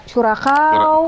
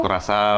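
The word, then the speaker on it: Curaçao: Ada Curakau, Kurasau, Kurasau ya.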